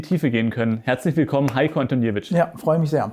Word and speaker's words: Heiko Antoniewicz: Herzlich willkommen, Heiko Antoniewicz. Ja, freue mich sehr. Richtig ausgesprochen? Ja, genau richtig.